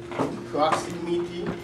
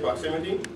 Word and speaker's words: ProxyMeety: it's called proximity sounds like proximity but it's proxy spelled like sence spell proxy and me then you meet people so it's proxy you